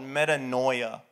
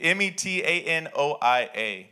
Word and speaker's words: metanoia: from the word it's a greek word called metanoia metanoia i don't i'm not going to tell you how to spell it you just have to guess i'll spell it for you m-e-t-a-n-o-i-a metanoia and it means this it means after